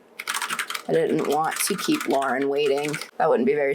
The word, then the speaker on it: Lauren: I guess Lauren's not in the movie, so maybe there's not a lot of Lauren lore in the fandom. Like lore, but it's spelled L-A-U-R. Like Lauren.